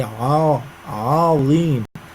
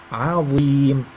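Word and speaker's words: عظيم: Don't say azim. If the letter preceded or followed by a heavy letter, it's very liable to, by mistake be pronounced like a heavy sound. But no, you have to liberate the letters from each other. If it's light, it should be light.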